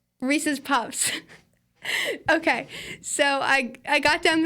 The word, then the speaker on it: Reese's Puffs: So Reese Puffs? Reese's Puffs. Okay, so I got down the pronunciation for that.